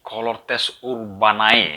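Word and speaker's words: Cohortes Urbanae: Ya, waktu itu di dalam kota berdiri Colortes Urbanai. Ya, bacanya gitu.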